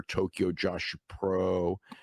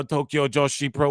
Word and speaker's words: Tokyo Joshi Pro: They want their Wrestle Con and they want their Tokyo Joshua Pro. Bro, they want their Tokyo Joshy Pro. Oh, I'm a Japanese now. Tokyo Joshi Pro.